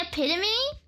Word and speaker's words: epitome: Hey, QB, say epitome? I'm sorry, I don't know how to pronounce things.